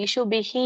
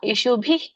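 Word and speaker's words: ಇಷುಭಿಃ: ಇಲ್ಲಿ ನೀವು ಮೂರನೇ ಲೈನ್ಲ್ಲಿ ಇಶುಬಿಹಿ ಅಂತ ಹೇಳಿದ್ರಲ್ಲ ಅಲ್ಲಿ ವಿಸರ್ಗ ಉಚ್ಚಾರಣೆ ಮಾಡಬಾರದು ಸ್ವಲ್ಪ ಬರುತ್ತೆ ಮೈಲ್ಡ್ ಲೈಟ್ ಆಗಿ ಬರುತ್ತೆ ಹ ಬಟ್ ಪೂರ್ಣ ರೀತಿಯಾಗಿ ಬರೋದಿಲ್ಲ ಯಶುಭಿ ಪ್ರತಿಯೋಮಿ ಅದೊಂದು ಹೇಳಿ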